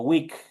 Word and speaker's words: week: es bueno recordarles que cuando nosotros veamos estas dos vocales en una palabra, que es la doble E, el momento de pronunciar es como que ahí estuviera una I. Por eso yo digo week.